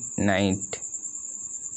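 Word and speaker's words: knight: আই জি এইচ টি নাইট কে এর উচ্চারণ হবে না কে এন ও ডব্লিউ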